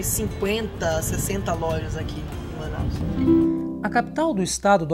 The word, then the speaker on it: Manaus: Se escreve-se bastante, no entanto, a pronúncia é Manaus, né? Pronunciar é Manaus, mas ficou conhecido assim devido à tribo dos Manaós.